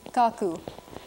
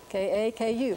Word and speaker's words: kaku: Grandmother is written in their orthography like this, and in fact, in IPA, kaku, kaku is usually, if you're talking about my grandmother does such and such, it would be kaku, K-A-K-U, kaku.